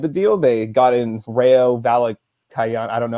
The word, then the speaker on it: Rayo Vallecano: The stadium the franchise was sort of put on a hiatus, and then in order to revive the deal, they got in Rayo Vallecano.